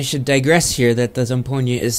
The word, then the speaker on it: zampogna: these on this cd um because um the zomponia basically it has different parts to the instrument